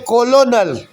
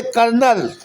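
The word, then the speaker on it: colonel: वहाँ लिखते BUT बुट और पढ़ते हैं बट, लिखते कोलोनल पढ़ते कर्नल, लिखते ल्यूटिनेंट पढ़ते लेफ्टिनेंट।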